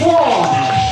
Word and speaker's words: Whang: Yes, it's pronounced Whang.